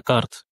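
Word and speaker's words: карта: Carte, il signifie la carte. La carte. La carte. Je me permets de rouler le R en Russe. Ici, il y a pas de complication, hein. L'accent tonique est sur le A. Carte. Carte.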